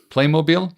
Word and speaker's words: Playmobil: Um they also, if you haven't seen it, there's a Playmob, how is that pronounced? Playmmobile. Playmobil. Yep.